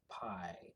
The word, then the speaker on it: Pi: they come here and their name is spelled p i and you pronounce it P so that was actually